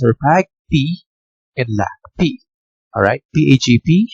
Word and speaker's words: PAgP: Alright, PAGP right here and LACP protocol. Okay, so let's start off with the first protocol. Okay, the PAGP, pronounced as PAG-P.